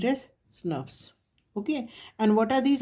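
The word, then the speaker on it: snRNP: the language of molecular biology sn rnps are pronounced as snuffs okay and what are these actually these are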